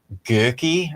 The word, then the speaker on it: Goeke: Well, OE would be O with an umlaut on top with 2 dots. So that's usually like Goeke or something, I think.